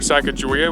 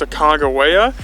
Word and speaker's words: Sacagawea: Another really neat fact about this area is that we always called her Sacagawea, but we've heard it's pronounced Sacagawea.